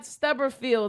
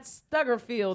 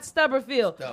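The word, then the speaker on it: Stubblefield: remember his name was Clyde Stubberfield or Clyde Stuggerfield or Stubberfield. You said it right the first time. Clyde Stubberfield.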